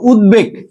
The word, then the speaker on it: উদ্বেগ: ওকে, 5 নম্বরটা দেখো, উদ উপসর্গ যোগে গঠিত শব্দের সাথে বফলার ব উচ্চারণ অবিকৃত থাকে। দেখো উদ্বেগ, উদ্বোধন, এখানে উদ উপসর্গ